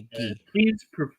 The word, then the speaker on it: gi: For those who are not familiar, that is A gi. please forgive me for mispronouncing if I mispronounce it.